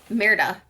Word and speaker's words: Merida: It definitely feels like a Merida color. Merida color. I was putting an extra syllable in there. My apologies. Are you saying Merida or America? Merida.